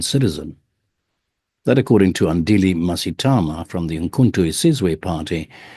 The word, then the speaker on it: Mngxitama: Yes, my name is Andile Mngxitama. It's got those flicks which we inherited from the Khoisan. That's the sound. How do you say that sound, Andile? Is there a click to it? Yes, Mngxitama.